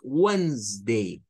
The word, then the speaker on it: Wednesday: day on day onday no es wednesday es wednesday dos sílabas nada más W day vean hasta